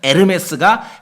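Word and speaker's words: Hermès: 헤르메스 우리 여성들이 좋아하는 에르메스가 헤르메스의 불란서 발음입니다 프랑스 발음 신의 이름이에요 그까 이스라엘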